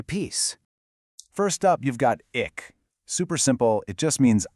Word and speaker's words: Ik: First up, you've got ick. Super simple. It just means I. But the pronunciation is key here. It's a short, sharp sound.